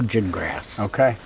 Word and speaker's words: Gingras: It's pronounced like a gin, cotton gin, right? And grass like what you have in your front yard. So Santa Phil Gingrass.